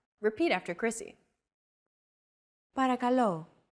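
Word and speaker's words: παρακαλώ: accentuated in Greek so make sure to stress that final syllable with the accent mark repeat after Chrissy parakalo para calo since most sounds in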